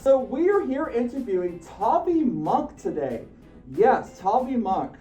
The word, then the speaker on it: Tavi: Oh yeah, in case some of you may have realized, yeah, it's actually pronounced Tavi, not Tavi.